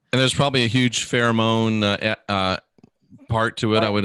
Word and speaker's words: pheromone: And there's probably a huge pheromone part to it, I would imagine as well.